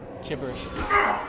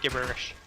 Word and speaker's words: gibberish: Gibberish. Soft G. Gibberish. Nope. I'm saying gibberish.